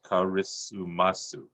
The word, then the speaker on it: karisumasu: word christmas two syllables they put a vowel with every consonant so it becomes karisumasu so it's because of